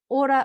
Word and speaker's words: Ora: so uh Instagram so order oh sorry I was speaking to some kiwis yesterday so I was I was using the Kiwi pronunciation of my business name um Aura sleep coaching o sleep